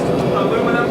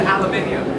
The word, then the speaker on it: aluminium: And notice, Brian, I repronounced aluminum to aluminium. Correctly.